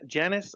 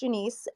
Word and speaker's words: Janiece: as we can janice i'm sorry if i mispronounced that janice my name is janiece and my company is